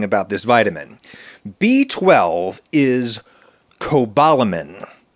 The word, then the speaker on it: cobalamin: B12 is Cobalamin, not Cobalamin, as it is often mispronounced by myself and others, but Cobalamin, which is the only essential micronutrient based on the toxic heavy metal cobalt.